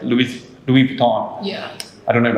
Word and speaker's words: Louis Vuitton: items and experiences online for example like luis louis vuitton yeah i don't know if i pronounce it right hopefully i did my favorite